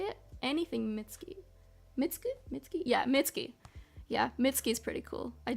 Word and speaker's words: Mitski: Yeah, Mitski.